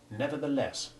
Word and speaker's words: nevertheless: l e double s the unstressed ending of regardless has the short e2 iv sound and the stressed ending of nevertheless has short e1 as does the equally strongly stressed first syllable in contrast the short e3 in the first syllable of regardless though not as completely devoid of stress as the last syllable is relatively unstressed compared with the second syllable listen to these words